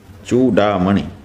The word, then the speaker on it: चूडामणि: समझ में आ गई जब संस्कृत के अनुसार आप उच्चारण करेंगे तो क्या होगा चूड़ामणि और हिंदी में अपने लोग चूड़ामणि कह देते हैं अधिकतर लोग संस्कृत में भी चूड़ामणि कहने लग जाते हैं लेकिन इस तरह का ध्यान रखने से और अच्छा होगा विवेक चूडा मणि यह शुद्ध उच्चारण है यह जो विवेक